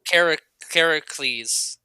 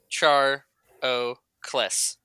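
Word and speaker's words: Carcharocles: So yeah, I mean, it's like Caracles. I think that it looks Greek. It's CAR. It's Char O Kles. Caracles, something like that.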